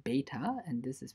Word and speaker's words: beta: the Greek letters beta and epsilon this is pronounced beta and this is pronounced epsilon by the way